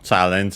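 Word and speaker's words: チャレンジ: Well, first and foremost, we have, of course, Challenge from challenge in English. Check its accent. Okay, the accent is on the re, so challenge.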